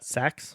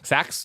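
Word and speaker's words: Sachs: director William scks scks how how did you pronounce that saaks saaks Willam saaks originally intended for the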